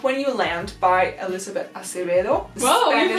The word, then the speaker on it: Acevedo: It is Clap When You Land by Elizabeth Acevedo. Whoa, you pronounced that so nice! I've had a little bit of Spanish in high school, nice. Acevedo.